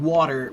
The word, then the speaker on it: water: So water is different. Water has what we call the uh it's some people call it a glottle stop and some people call it a uh a flap t.